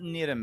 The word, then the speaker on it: Niram: it's Niram or it's like It's spelled with an R. yeah, So and it's say- pronounced like the R or a D. It's like Like between an Spanish. R and a D.